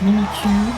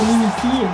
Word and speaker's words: Mimikyu: En plus, le prononce à la japonaise Mimikyu. Oui, c'est comme ça en japonais. Oui, C'est Mimikyu. oui, c'est Mimikyu. Pas Mimiki, moi c'est Mimiki, mais au Japon ils disent Mimikyu.